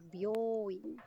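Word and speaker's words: 病院: Por ejemplo, clínica hospital es bioin. Se alarga, mira, bioin.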